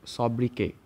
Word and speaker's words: sobriquet: তো এটা একটা ফ্রেঞ্চ এক্সেন্ট। তাই এখানে যে টিটা থাকে টিটা উজ্জ থাকে। যখন উচ্চারণ করি আমরা সব কে অব্দি উচ্চারণ করে ছেড়ে দেই। ওকে? তো সব্রিকে ওয়ার্ল্ড সিটিজ এন্ডে স্রিকে সেটা আমাদের ফোকাসের বিষয় না।